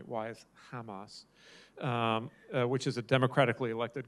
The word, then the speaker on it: Hamas: You know, it says, why is Hamas, I'm sorry, I'm pronouncing it the Hebrew way, why is Hamas, which is a democratically